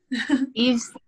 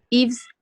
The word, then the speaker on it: Yves: Yves con Y primero, V-E-S, que creo que no se pronuncia así, ¿verdad, Balam?